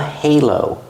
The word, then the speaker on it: halo: head that's called a Halo pronounce the h plus a long a like day and say hey Halo put the stress on the first syllable this Angel has a